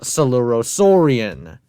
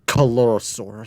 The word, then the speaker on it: Coelurosaurian: That's called Coelurosaurian. not Colorosaur.